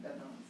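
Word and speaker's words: Beth Mowins: ESPN that Beth Mallins, is that how you pronounce her name? Beth Mallins, yeah.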